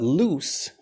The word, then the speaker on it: loose: But loose, and listen carefully to the difference in these pronunciations. Lose, it's like L-O-Z or L-U-Z or something. Lose versus loose.